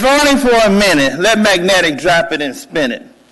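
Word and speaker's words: Magnetek: is magnetic last name m-a-g-n-e-t-e-k pronounced magnetic and i brought with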